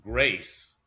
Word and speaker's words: Greece: Uh, quote, "When it is remembered that Greece is pronounced grace in Ireland, grace of bloom." Oh, evolves upon I'll read this again. Uh, quote unquote, when it is remembered that Greece is pronounced grace in Ireland.